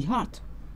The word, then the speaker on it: hearth: The little woman was making cake and baking them on the hearth. Earth, here in this poem, earth rhymes with hearth.